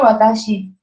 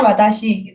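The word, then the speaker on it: 私: di komennya Kak Reikazen ini kanjinya watashi, yang huruf pertama ini. Jadi huruf pertama itu bacanya watashi gitu.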